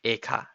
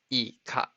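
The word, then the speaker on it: いか: It's not eka. It's ika. I-K-A.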